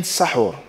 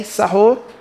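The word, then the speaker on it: سَحور: And the second was saying sahur. If you mention it with a fatha, an a, sahur, then it's the actual meal that you're eating.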